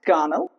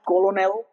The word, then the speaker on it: colonel: See both O's are silent. Connell. Even L is silent. Okay. Connell. It's just not colonel. That's wrong.